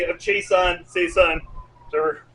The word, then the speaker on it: Seisan: All right, section 3 of Chaeson, Seisan, the pronunciation we're working here.